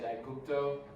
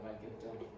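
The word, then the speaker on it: Aegypto: in the Aurelia passage, I would say Aigupto, with the Y as the upsilon instead of Aigupto.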